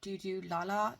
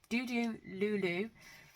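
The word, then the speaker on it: Dodolulu: I got some new Doodoo Lala tapes. I think that's how you say it. Oh, here. Doodoo Lulu. Oh, God, I always say Lala.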